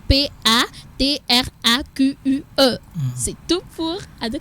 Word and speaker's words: patraque: pas trac on est pas trac quice qui s'écrit P a T R a Q u e c'est tout pour de C je sens que